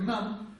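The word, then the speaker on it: རྣམས: «Рнамс» читается как «нам», потому что «са» последнее не читается.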